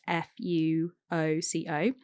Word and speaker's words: Fuoco: I always say their name wrong, but it's Fuoco.